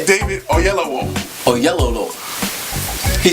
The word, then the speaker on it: Oyelowo: Oyelowo.